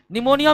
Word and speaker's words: निमोनिया: P silent रहता है निमोनिया में पी साइलेंट रहता है निमोनिया बैक्टीरिया के कारण